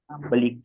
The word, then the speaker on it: Ambalika: Ambalika. Am I right? That is the pronunciation? Ambalika. Yes, sir.